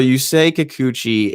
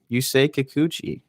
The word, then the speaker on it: Yusei Kikuchi: So Yusei Kikuchi is 29 years old. I think I did it. I didn't even need the pronunciation. Yusei Kikuchi. Yeah, I think. Yusei Kikuchi.